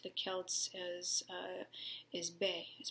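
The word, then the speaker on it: beith: also known to the celts as uh is bae it's it's pronounced bay um and birch is the ladies tree it's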